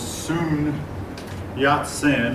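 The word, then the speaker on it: Sun Yat-sen: man responsible for the revolution of 1911 was soon yacht sin that looks like sun but the Chinese pronounces said and um he was the son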